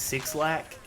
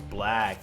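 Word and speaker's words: 6lack: familiar with the artist six lack he keeps trying to tell us that his name is black and the six is pronounced as a b incorrect young man your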